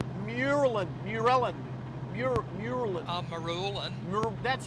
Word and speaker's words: Marulan: So, we haven't been through Marulan yet, have we? Haven't been through where? Sorry. Marulan. Marulan. Maru- Marulan. Ah, Marulan. Maru- That's how you pronounce it.